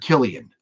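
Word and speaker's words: Cillian: I I love it pronounced like Killian okay and that's that's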